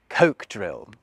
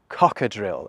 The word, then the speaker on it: cocodrille: So I've picked coke drill, except it's not coke drill, it's pronounced cockadrill, and it's just another name for a crocodile.